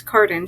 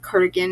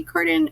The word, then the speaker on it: Cardan: Then the sixth prince, Prince Carden shows up. And I'm not going to lie, his name will probably be accidentally pronounced as Cardigan at least once a chapter.